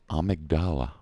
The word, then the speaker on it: Amygdala: the nightmare frontier and it's called amygdala according to patches anyway that's how it's pronounced obviously we've got some references to the part of the brain called the amygdala which if you've studied